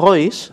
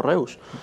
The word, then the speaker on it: Reus: Que se pronuncia Otto Royce, Ajá. pero de eso yo me enteré como con 19 años, Ajá. Con lo cual me he quedado con la catetada de Otto Reus.